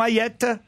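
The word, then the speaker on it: Hayet: J'ai bien prononcé votre prénom, Ayette? Oui, tout à fait, c'est parfait.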